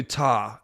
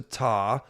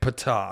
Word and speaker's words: Ptah: Let's go over to Ta. There's really only a couple things to say about... I think the P is silent, right? Yeah. Okay. One YouTube video was saying Ptah, and I was like, I don't think that's right.